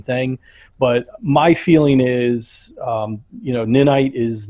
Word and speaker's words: Ninite: I mean, his first question was, why did we go with Ninite over Chocolatey?